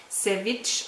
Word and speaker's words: Savage: Hätte mir besser gefallen, das Französisch, aber es spricht man wohl Savage aus.